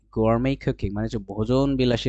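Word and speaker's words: gourmet: সেটা হচ্ছে গোয়ারমেই। এটা ওই যে বুফেই যেটা আছে না, বাফেট না বলে আমরা বুফেই বলি, সেটা হচ্ছে গোয়ারমেট না বলে আমরা বলবো গোয়ারমেই। গোয়ারমেই কুকিং মানে হচ্ছে ভোজন বিলাসী রান্না, উড়াধুরা রান্না।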